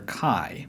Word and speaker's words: chi: In English, we call this letter chi, but again, the spelling gives a clue to how the ancients pronounced this letter, C-H-I. Just like phi before, the H indicates that this letter is also an aspirate, in this case a K sound with a puff of air.